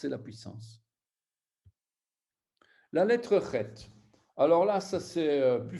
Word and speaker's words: Het: Donc, cette lettre-là, Chet, c'est une lettre qui se prononce de la gorge.